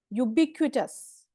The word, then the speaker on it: ubiquitous: okay next word is यूबी क्विटस यू B quit quit बोलते हैं ना जैसे क्विट तो यूब क्विटस यूब